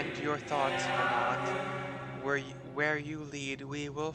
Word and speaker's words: Venat: I don't know why you pronounce it Venat when it's V as in Victor, E, N as in Nancy, A, T as in Tom.